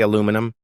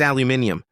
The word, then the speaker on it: aluminium: Do you say aluminum? Ethan nodded, bracing himself. James shook his head with theatrical disappointment. It's aluminium. One more syllable. Lovely syllable.